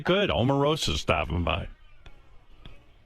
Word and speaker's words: Omarosa: She likes her name pronounced correctly. How do you say it? Omar Rosa. Omar Rosa. Yes. No, it's Amarosa.